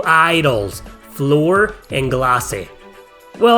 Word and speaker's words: Glace: However, the mysterious Al appears one day alongside 2 idols, Floor and Glace. Well, I guess it's pronounced Glaze in English, but guess what?